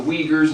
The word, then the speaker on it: Uyghurs: We got the, correct pronunciation, the Uyghurs in China.